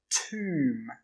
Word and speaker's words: tomb: This word is pronounced tomb.